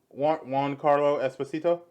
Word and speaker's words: Giancarlo Esposito: Juan Carlo Esposito.